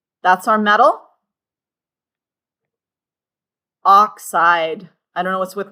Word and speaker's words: oxide: How many syllables for our nonmetal? 2 syllables. Nonmetal ions generally have 2 syllables. So not oxyide, not oxyide, oxide.